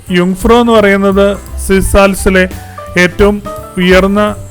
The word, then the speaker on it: Jungfrau: സമയമാണ് യങ്ങ്ഫ്രോ എന്ന വാക്കിൻറെ ജങ്ഫ്രോ എന്നാണ് നമ്മൾ അതിന്റെ സ്പെല്ലിങ് കണ്ടാൽ മനസ്സിലാക്കുന്നത് അതിന്റെ ശരിയായ മലയാള ഉച്ചാരണങ്ങൾ യുഫ്രോ എന്നാണ് ജർമൻ ഭാഷയിൽ ജെ വൈ പോലെയാണ് ഉച്ചരിക്കുന്നത് അതുകൊണ്ട് ജങ് എന്നുള്ളതിനെ യു എന്ന് പറയും ഫ്രോ പിന്നെ അതുപോലെതന്നെ ജങ്ഫ്രോ ജോജ് എന്നും പറഞ്ഞാണ് നമ്മൾ ഒരു വാക്ക് കാണാം ഇതിനെ നമ്മൾ പറയുന്നത് യുഫ്രോ യോക്ക് എന്നാണ് ശരിക്കും മലയാള